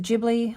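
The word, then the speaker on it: Ghibli: like Studio jibli Vibes I heard recently that you pronounce it jibli I've said gibli my whole life unless that person was wrong but they supposedly contacted studio jibli and they said it's a jibli so I'm just going to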